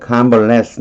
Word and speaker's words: convalesce: 자, 뒤에 convalesce 나오죠. less에 강세가 들어가요.